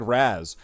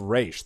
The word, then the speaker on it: Ra's: Let's call it Ra's, but it looks like Raz. How about people think it's Raz when they read it, but it's called Ra's?